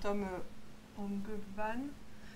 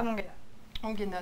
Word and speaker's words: Tom Ongena: C'est Tom Ongevan, il me semble. Mais je ne suis pas sûre exactement de le prononcer correctement. Ongena, pardon. Voilà. Tom Ongena, désolé monsieur d'avoir qui a remplacé votre nom.